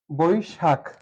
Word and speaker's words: বৈশাখ: উচ্চারণ হচ্ছে মন্তব্য এখন চলে আসছি বৈশাখ আমরা জানি যদি ওই থাকে তাহলে ও আর এইটা এখন যদি কোন বর্ণের সাথে থাকে যে এভাবে সেই ক্ষেত্রে আমরা কি করব ওকার দিব রসই নিব তাহলে কি নিতে পারি এখানে ব বই শাক স টা কেমন উচ্চারিত হচ্ছে স এর মতই বৈশাখ বৈ শাক এটি হচ্ছে সঠিক উচ্চারণ বৈশাখ এখন চলে আসি বিশ্বাস